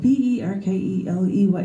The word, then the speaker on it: Berkeley: side of the pond, the Brits have a different way of saying things, including the name of the Anglo-Irish philosopher George Berkeley. That's B-E-R-K-E-L-E-Y, like you're barking, Berkeley, you're barking up the wrong tree.